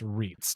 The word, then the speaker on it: REITs: trust, sorry, real estate investment trust are pronounced as the acronym goes, REITs.